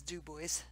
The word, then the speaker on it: DuBois: and it's spelled do you be is like Du Bois yeah but everybody's just says Dubois and that's how you pronounce it Dubois well Illinois is Illinois now